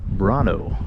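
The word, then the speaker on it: Brännö: explore and we picked brono b r a n n o with the little dots above the A and the O which probably changes the pronunciation to something that I got incorrect but voming to the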